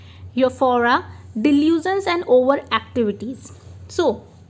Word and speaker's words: euphoria: से आप प्रोनाउंसिएशन देखिए, euphoria, YOFFOREA, euphoria, delusions and over activities.